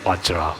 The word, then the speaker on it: Vajra: the pronunciation correctly, then definitely Vajra is Vajra. Vajra should not be pronounced as Benza, but keeping these other